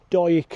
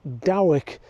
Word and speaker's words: Dawyck: Next to the coach house is Dawyck House, and reading the name you might be forgiven for saying Dawyck, but the correct pronunciation is Dawyck, similar to Hoyk in the border region further to the east.